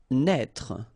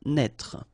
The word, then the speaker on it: naître: Naître. Okay, same thing here for the circumflex. Write it, but don't pronounce it. Naître.